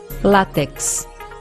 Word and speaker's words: látex: as palavras paroxítonas abaixo látex Ônix tórax ifen abdomen látex e não látex é látex agudo no ar paroxítona terminada em x Ônix a pedra preciosa